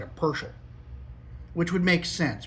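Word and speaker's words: Pöschl: kind of like a persel which would make sense because the O has the little dotty things on there. So it's more like a U sound to us Americans.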